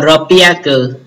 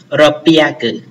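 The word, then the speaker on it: 六百: À, đáp án chúng ta là đáp án số 4 đọc là ropiaku, nó đọc đặc biệt ha, ropiaku.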